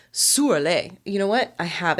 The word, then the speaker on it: Şüräle: Or a Şüräle. Şüräle. Sorry, I'm pronouncing it correctly in the Russian accent. Şüräle. Mm-hmm. Or it sounds more like Şüräle.